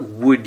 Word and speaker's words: would: it's also spelled differently instead of using two o's this wood uses one O A U and a silent l but the O the U and the silent L make the same sound as the two o's so the sounds are still uh and the word is still wood and if you would